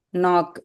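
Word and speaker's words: know: நோ K silent K மட்டும் கிடையாது. Look at that. W silent. நோ. நோ yeah W silent. Look at that. நோவையும் ஒரே மாதிரி உச்சரிக்கணும். Which means கேவும் வேண்டாம் டபிள்யூ வேண்டாம்.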